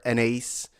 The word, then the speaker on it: Anaïs: that please do support Anais Mitchell or an ace for those who pronounce it differently than I do support her and support